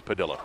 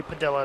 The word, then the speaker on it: Padilla: And I did say Padilla because that's how it's pronounced. That is I know correct. somebody, I'm with you. I'm a South Floridian. We have a large Latin population, and I'm used to seeing 2 L's and making it an E sound, but it's Padilla. So. Yeah, it's definitely Padilla. That's how they pronounce it.